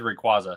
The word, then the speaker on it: Rayquaza: Every everyone who's voted has said Rayquaza. So that's how you say it.